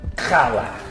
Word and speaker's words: challah: Challah. It is challah. I know, you're pronouncing the cha.